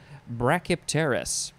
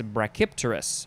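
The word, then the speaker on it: brachypterous: we have brachy oh how do you say this one brachiopteris or no it's brachypterus brachypterus i'll spell this one b-r-a-c-h-y-p-t-e-r-o-u-s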